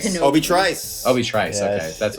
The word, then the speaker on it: Obi Trice: Is it Obi-Wan Treese? Kenobi. Obi Trice. Obi Trice. Okay, Yes. that's what I didn't know. That's bad pronunciation by me.